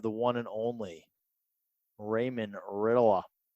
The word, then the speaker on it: Ritola: Today we have the one and only Raymond Ritola. That's how I say his last name. Ray, pronounce your last name for everyone. Ritola. I said it right. Sometimes we call him Ritalin, sometimes Ritola. But yeah, Ritola.